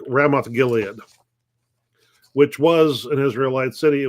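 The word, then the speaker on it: Ramoth-Gilead: they're trying to regain rabbith Gil what's the name I mispronounced the name hang on they're trying to to retake ramth Gilead which was an Israelite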